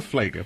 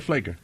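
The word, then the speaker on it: Pfleger: Father Flager. Pastor. But how do you guys address We call him him? Pastor Flager.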